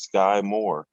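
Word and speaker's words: Skyy Moore: is your guy and it rhymes with guy and it's skye moore that was the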